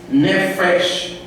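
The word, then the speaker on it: nephesh: Alma, no hebraico, nefesh, é quase assim a pronúncia, N-E-P-H-E-S-H.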